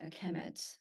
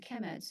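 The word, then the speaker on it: Kemet: uh they will be the noun will be pronounced aemet so so uh Egyptians the writing system have signs that present sound and signs that present uh meaning so in this case sound chemet is represented by this sign I don't you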